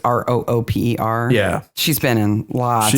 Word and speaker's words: Rooper: Jemima, I'm guessing her last name is actually pronounced Roper, but it's Rooper.